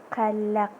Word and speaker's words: qalaq: So we don't have that sound in English, but we write it as a Q in English. Okay. So qalaq. So because that's not exist in English, so it's going to be kind of hard to pronounce.